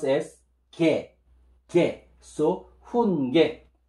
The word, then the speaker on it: 훈계: Then, giok and vowel ye, ye, will pronounce as ge, ge. So, hun ge. Hun ge.